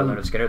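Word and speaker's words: Lynyrd Skynyrd: of all time and that's uh pronounced leonard skynyrd by leonard skinner their first album which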